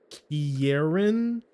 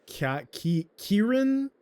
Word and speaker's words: Kieran: Karen Kieran, I think it's Kieran.